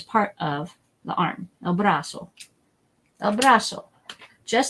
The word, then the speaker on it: brazo: vibrations with Z's either it's not Brazil it's Brussels so it has an S sound here and I use pink again El brazo El brazo I bet